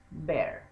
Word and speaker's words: bear: Cuando es el oso es a bear, cuando es una cerveza es a beer. ¿Ok? La cerveza se pronuncia beer, el oso se pronuncia bear.